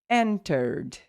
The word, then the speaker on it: entered: Entered. And that's like no, okay? You'll never pronounce ed, okay? You never pronounce ed. In fact, this you will pronounce the sound of D. Entered.